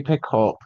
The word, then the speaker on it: Picoult: Reading The Book of Two Ways by Jodi Picoult. If that's how you say that. I've never asked anyone how to pronounce her name. Picoult. It's like pickle. Is it? It's the T silent.